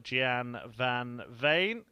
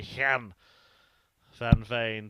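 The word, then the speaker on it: Gian van Veen: on the game pronunciation i mean actually it should be han van vane but i have had permission to call him gian one from the man himself he said if you're dutch it's kian if you're english just call me gian 60.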